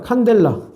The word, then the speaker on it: 칸델라: 칸델라. 칸델라. 대문자로 쓰면 안 돼요. 이거 대문자로 쓰면 카드미늄 돼 버리는 거야. 칸델라야. 소문자. 자, 물질량은 몰. 자,이 칸델라는 어, 외우기 쉽게 캔들이랑 발음이 비슷하지.